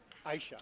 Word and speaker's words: Aisha: Aisha is the way it's pronounced.